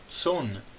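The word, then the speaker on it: צֹאן: Tson significa rebanho. E notem aqui que este aleph é um aleph mudo. Então, tson, na verdade, é uma palavra monossilábica.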